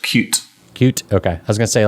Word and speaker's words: Qt: Well, I think it's pronounced Qt.